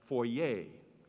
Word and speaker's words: foyer: It is foyer, or sometimes pronounced foyer.